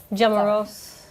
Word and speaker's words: Jamros: Am I pronouncing your last name correctly? Jamros, I'll answer it. Jamros.